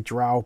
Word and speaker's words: drow: then we have the dro and i don't know how to pronounce it some people correct me and say drow but the dro their